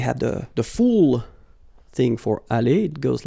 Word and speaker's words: allée: Here you've got aller, aller, even if you've got the final E, you don't pronounce it. Aller, even if you've got the S. Aller, even if you've got this ES. Okay?